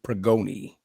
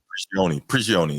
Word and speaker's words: Prigioni: And Wolves assistant coach Pablo Pregoni. Pablo Did I pronounce that wrong? Yeah, whatever. Prigioni, yeah, that's it.